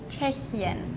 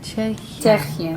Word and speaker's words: Tschechien: Czechien. Tschechien.